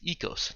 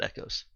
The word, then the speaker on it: Eos: be a obvious pronunciation it's EOS not echos I could put pronunciation